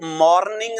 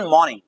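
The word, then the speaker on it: morning: आई was fine in द मॉर्निंग, आई वो मॉर्निंग नहीं, the right pronunciation मॉर्निंग, मॉर्निंग मॉर्निंग। आई वॉज, आर को आप हल्का सा साइलेंट कर देंगे।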